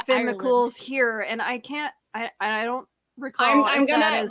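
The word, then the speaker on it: Fionn mac Cumhaill: The hero's name is pronounced Finn McCool.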